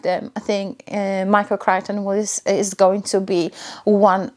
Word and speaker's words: Crichton: So this is Michael Crichton. Yeah, so I'll see how the other 2 books that I've ordered, how they are, and if I like them. I think Michael Crichton is going to be one of the authors